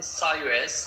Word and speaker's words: Cyrus: English people call him Cyrus but in Persian we call him Kuros.